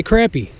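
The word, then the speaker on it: crappie: it from the West spell it crappy CRA not CRO CRA I don't give a crap about freaking plural against singular it's spelled crappy I say crappy I don't care what's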